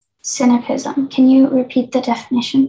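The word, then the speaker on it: sinapism: cynicism can you repeat the definition please uh cynipism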